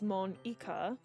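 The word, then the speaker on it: Monika: Well, I think the basis of Natsuki's joke to Monica was in Japanese, they actually say her name as Mon-ika.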